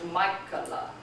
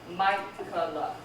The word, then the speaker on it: Michaela: example, I have a friend whose name is Michaela. Michaela. Michaela. Okay? How you spell that?